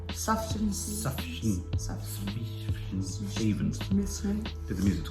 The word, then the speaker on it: Sufjan: Sufjan Stevens.